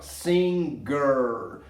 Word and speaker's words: singer: Olha agora, você vai perceber que ao colocar o ER, o G vai ser pronunciado bem, ó. Singer.